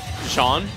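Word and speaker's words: Jeanne: Sorry, Jean. Never been able to pronounce her name. You mean Jean? Yeah, Jean. Yeah, okay. Nice. So it's Jean.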